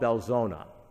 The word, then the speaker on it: Belzoni: the Mississippi Delta in a small town called belzoni that's not the way it's spelled but that's how it's pronounced he was born in belzoni in October 1936 he and my grandparents left